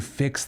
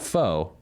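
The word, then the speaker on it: phở: office we call it f because if you're pronouncing the uh the the noodle soup dish correctly it's not fo it's F anyway uh so at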